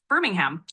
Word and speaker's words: Birmingham: I pronounce it right yes that's correct it's pronounced Birmingham birmingh Birmingham okay exactly you've got it birming